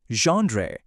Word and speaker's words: genre: ఇక చివరిగా జాన్రే. ఈ పదం మొదట్లో సాఫ్ట్ ఝ సౌండుతో మొదలవుతుంది.